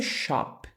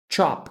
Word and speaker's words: chop: misturar to Chop picar não vai ser Shop como a palavra loja em inglês Chop como se fosse um tx a mesma pronúncia de Church esse ch no Church o ch no vai ser o ch do Chop como se fosse um tx na pronúncia e por fim nós